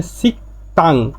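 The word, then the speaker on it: 식당: এযে গিয়কের পরে দ্বিগুত আসলে দিগুটা ত উচ্চারণ হবে সাংদিগুতের মতন হবে ত হবে এজন্য উচ্চারণটা হচ্ছে সিকতাং মানে রেস্টুরেন্ট তিন নাম্বারে উনহ্যাং মানে ব্যাং উনহ্যাং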